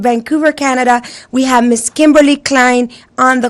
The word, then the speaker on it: Kimberlee Klein: the way from Vancouver Canada we have Miss Kimberly Klein on the call thank you OD did I pronounce it correctly it's Kimberly Klein yeah okay so I did say it